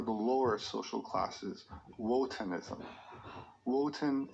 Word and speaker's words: Wotan: lower social classes wotanism woten is the german pronunciation of odin liszt claimed that the